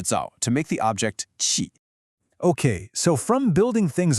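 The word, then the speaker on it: 器: And then you have the result, qi, pronounced qi. That's a sharp qi.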